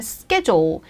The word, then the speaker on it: schedule: 그러면 schedule 대표적인 영국 발음에서 나오는 영국 발음과 미국 발음이 다른 단어 중에 하나가 바로 schedule이죠. schedule 발음 조심하시고요.